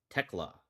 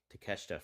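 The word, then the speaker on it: Tekla: I think it's pronounced Techla. Techla. Good. Boy, I was struggling with Teesha for for forever.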